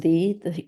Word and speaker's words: ye: is died December uh it says ye but it's pronounced the the 8th 1700 so